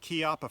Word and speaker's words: Chiappa: Now, I said Chiappa for a reason. It's an Italian name, and that's the way they pronounce it.